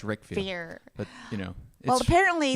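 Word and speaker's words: Riquewihr: It looks like Ribville, but it's pronounced Rickvier.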